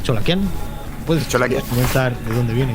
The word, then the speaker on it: Cholakian: De hecho, creo que todos cometemos el error con Cholakian, pero en realidad es Cholakian.